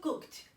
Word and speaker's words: cooked: Aunque realmente se escribe ed, la pronunciación en este caso no es nd. Ya veremos en otra clase la pronunciación de los pasados. En este caso, cooked. Tiene una pronunciación como si fuese una T.